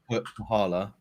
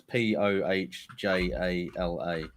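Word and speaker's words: Põhjala: Pahala, but sorry, it's Pohjala.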